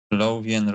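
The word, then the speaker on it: Lothian: Lafian road. Lovian road.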